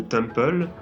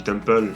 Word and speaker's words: Temple: dis Temple, mais c'est Temple, c'est un mot français, donc disons la française. Enfin, je dis pas que c'est un mot français de base, je dis que ça se prononce à la française, du coup, si c'est